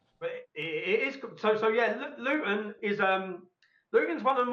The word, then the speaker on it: Luton: I pronouncing it correctly, Luton? That's my pronunciation. Okay. So we pronounce it Luton. We drop the T. Yes, Luton.